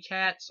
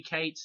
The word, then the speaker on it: Cates: in the film uh Phoebe cats or actually guess it's Phoebe Cates it's how you say her name she gets the best